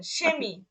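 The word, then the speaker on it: Chemie: ইয়া তালবীয় শ এর মতো উচ্চারণ হবে। যেমন এই দেখেন সেমি, সেমি, এই যে শব্দের শুরুতে আছে, সেহাটা শব্দের শুরুতে আছে, সেমি, সেমি মানে রসায়ন, কেমিস্ট্রি যেটাকে বলি।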